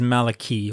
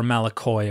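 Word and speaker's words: μαλακοί: one of them is Malachi or malachoi according to the erasmian pronunciation and and it basically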